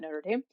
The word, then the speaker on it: Notre Dame: Here in the United States, we pronounce it Notre Dame.